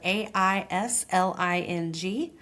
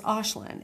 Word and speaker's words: Aisling: Aislinn is spelled A I S L I N G. People normally say Aisling, but it's Aislinn.